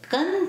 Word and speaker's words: Gen: The northeast is the element of yang earth and it's the Gen Palace. It's spelled G-E-N and its trigram is represented by two yin lines on bottom with one yin line on top.